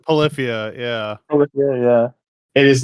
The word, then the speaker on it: Polyphia: Is it Polypheria? Polypheria? Is that how you pronounce that? Polyphia? It's Oh, Polyphia? It's not. Polyphia, yeah.